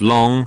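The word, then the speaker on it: 龙: dragon is literally just long pronounced exactly like the english word long all by pure coincidence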